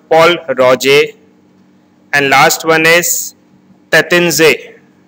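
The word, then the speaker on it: Pol Roger: It is not called Paul Roger. It is called Paul Roger.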